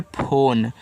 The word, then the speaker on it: phone: PHONE ए आपका लिखा हुआ है फोन, तो PH से देखो फा और ओ से ओ की मात्रा फो, यन आपका ना बनाएगा, इसका उच्चारण नहीं होता, तो ए आपका लिखा है फ़ोन।